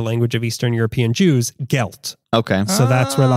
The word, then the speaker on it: gelt: people would give them money or as it's pronounced in ysh the language of Eastern European Jews gelt okay so that's where the Hanukkah G came